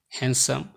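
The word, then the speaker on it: handsome: এই শব্দগুলোর ডি সবসময় সাইলেন্ট থাকে, যেমন Wednesday, handkerchief, হ্যান্ডসাম, ma'am, age, has, badge, wedge.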